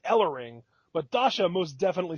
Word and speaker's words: Ellering: Then it's Ellering. Ellering. Okay. Because commentary said Ellering, but Dasha most definitely said Ellering, or just Ellering.